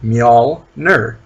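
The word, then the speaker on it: Mjölnir: the tumor two mighty Mjolnir what mary did you want are pronounce that Y Mjolnir that's easy two syllables me all nerd every time you just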